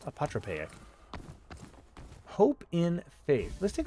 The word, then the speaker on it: apotropaic: Apotropaic element. Or perhaps it's pronounced apotropaic.